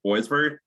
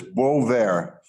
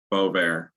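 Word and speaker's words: Boisvert: shortly um is uh is attorney you said boysberg was that the pronunciation is she present in the room with you you appeared correct way to pronounce it is Bo there Bo there okay thank you and she is present in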